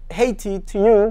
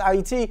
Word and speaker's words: Haiti: caveat today up until July 28 1915 IET Haiti - but it's pronounced AIT was so-called independent but after July 28 nineteen